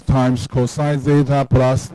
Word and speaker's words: zeta: Okay, so we replace cosine theta t with s times cosine zeta plus j sin zeta.